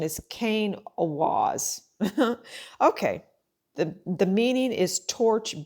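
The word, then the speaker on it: Kenaz: So the pronunciation is Kane Awaz.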